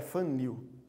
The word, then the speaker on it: Van Niel: A pronúncia melhor é Van Niel.